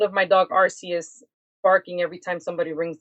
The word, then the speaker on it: Arceus: So his name is supposedly supposed to be pronounced Arceus, which is a Pokemon god.